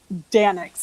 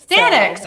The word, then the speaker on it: Daeninckx: Daeninckx. It's actually very easy. Daeninckx.